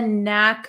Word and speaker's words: knack: for something have a knack for something so you'll notice there is a k here but this K is silent we do not pronounce this K okay so it's the